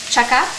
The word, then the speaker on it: chaka: We actually call it chaka. That's what it's called, chaka.